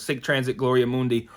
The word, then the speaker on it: Sic Transit Gloria Mundi: pronounce it and it's it's pronounced just the way it's spelled sick transit gloria mundy um i uh found